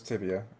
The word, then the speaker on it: Tibia: And I played uh Tibia or Tabia. I don't know how to pronounce it. Let's find out. How do you pronounce Tibia? Tibia. Oh, it was Tibia.